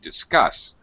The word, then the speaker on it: discuss: Notice that the unstressed syllable is dis. We have an I sound. Still a short, reduced sound. We got to have this as an I sound because this is a DIS is a prefix.